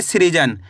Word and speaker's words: सृजन: सा के अंदर री की मात्रा है, तो सा के साथ अपन री का उच्चारण जोड़ेंगे। सा में री की मात्रा है श्री ज न, तो मिलकर बन जाएगा सृजन।